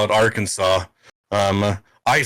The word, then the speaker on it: Arkansas: and pronounce this come on what like it's pronounced Arkansas yeah yeah and everywhere but when you go there um I know that it's our Kansas and we got our Kansas City and the